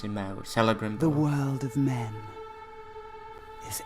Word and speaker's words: Celebrimbor: Alright, so there we go, our lore drop, and our name Talion, and yes, it is Celebrimbor as they pronounce him out, Celebrimbor.